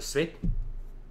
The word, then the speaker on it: Sveinn: It all comes out your nose, like you're actually blowing your nose.